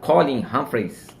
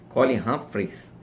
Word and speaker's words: Colin Humphreys: Existe um físico chamado Colin Humphreys, acho que a pronúncia certa é essa, Colin Humphreys.